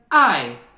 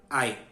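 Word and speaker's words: 爱: mandarem a gente pronuncia Ai não é uma palavra de parto e internação e isso em Japonês é pronunciado ai então você vê que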